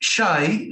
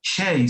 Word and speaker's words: Shai: Well, in Hebrew it's shy, but Shai. Okay. but in English everybody says shay.